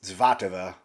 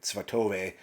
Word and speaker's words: Svatove: Ukrainians pronounce this is Zvatova. I pronounce, like, for me, being an American, it looks like to me like Svatove, but Zvatova, I think, is the way they pronounce that name.